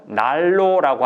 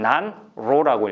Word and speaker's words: 난로: 쓰기는 난로라고 쓰지만 읽을 때는 날로라고 하죠. 니은이 리얼로 바뀌죠. 유음하라고 하나요? 이런 현상을. 근데 아이들 이 시기에 읽는 아이들은 난로라고 읽습니다.